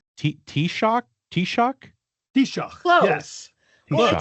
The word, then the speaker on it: Taoiseach: The key thing is that S pronunciation in the middle. We have. Oh, is it more like a? Oh, it's more like a sh.